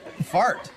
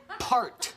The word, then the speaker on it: PHART: Fart. No, it's pronounced part. The H is silent.